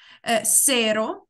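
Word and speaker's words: cero: Серо, це те, що нуль, читається як серо.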